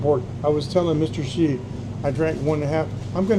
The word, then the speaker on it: Hsu: We pronounce it Shi in Chinese, but he spells his name HSU.